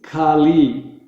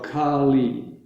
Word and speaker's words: Kali: repeat it after me so it's kali they have equal value and they're both long letters the ah and the e so the the a as a long a is ah the e as a lung e is e so kali okay then um whoever